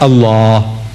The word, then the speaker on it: Allah: If it's A-L-A-H, is Allah. You say Allah. I said, look, say Allah. My language, I want you to pronounce as I want you to pronounce.